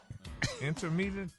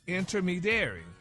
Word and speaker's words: intermediary: Intermedary. Now, it's a noun, Gary. Remember, it's a person. Noun is a person, place, or thing. Try again. Interadary.